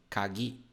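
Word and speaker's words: 鍵: kagi significa chave tá kagi ela é pronunciada assim ó kagi então quando eu falo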